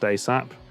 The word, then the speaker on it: ASAP: ASAP, pronounced ASAP, an acronym of as soon as possible.